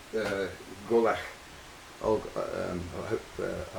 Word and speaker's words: Gobhlach: gaelic something i call that g-o-b-h the b-h is sort of silent asylum v and it's the name of the burn and the burn golach means fort it comes